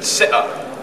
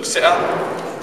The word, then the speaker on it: se'a: Na, and then se'a. This is a glottal stop, like, so you stop in the glottis. So se'a, this means see.